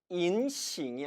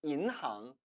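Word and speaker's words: 银行: 이라는 뜻을 지니고 있겠죠 그래서 인 싱이 아니라 2 항의 라고 발음하는 겁니다 따라했습니다 이인항 인랑 즉 우리나라의 은행이라는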